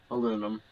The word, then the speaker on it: aluminum: I mean, they're the same thing, just pronounced differently. Like, States is aluminum, um, and Europe's aluminium.